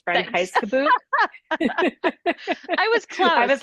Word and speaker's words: Reinheitsgebot: know that those I'm going to butcher the pronunciation of this, but Reinheitsgott. Jamie, I bet you could definitely. So I can, but I really wanted to hear you do it first. Okay, It's Reinheitsgebot.